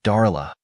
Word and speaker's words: Darla: She pronounced it Darla with an emphasis on the A and I just like that.